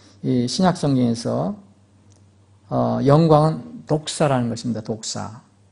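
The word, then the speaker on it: δόξα: 성경에서 영광은 독사는 것입니다 독사 우리 그 뱀을 얘기하는게 아니라 발음이 그렇습니다 그리스말로 독입니다 근데 이것은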